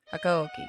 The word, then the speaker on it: Hakuoki: Hakuoki. Hakuoki.